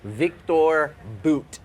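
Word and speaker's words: Viktor Bout: Victor Boot is how you say Victor his Boot.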